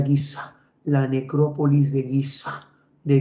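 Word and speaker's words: Giza: cementerio la necrópolis de guis Bueno en realidad se pronuncia guisa la necrópolis de guisa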